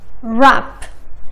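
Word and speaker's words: wrap: ولكن شوفوا هالكلمتين: write rap. حرف ال W قبل حرف ال A ما نطقناه.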